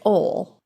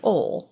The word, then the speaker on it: oil: And the director stopped him about his pronunciation of OIL, which he says, "ol." And that's how we say it here in Central Appalachia is "ol."